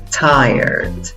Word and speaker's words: tired: En la primera sílaba tienes el sonido de la I con el sombrerito, con el guión arriba. ¿Cómo pronuncias la I con el sombrerito? Ay. Y esa va a ser la sílaba que lleva la fuerza de voz, la sílaba amarilla en la diapositiva. En la segunda sílaba tienes el sonido de la schwa que está escondida y es opcional, y la R y la D.